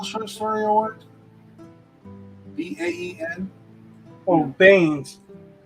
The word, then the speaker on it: Baen: Oh, Baines. Like Jim I don't Baen? know. Yeah, I don't know exactly. I just pronounce it the way I hear it pronounced, and I've heard it most often pronounced Bain.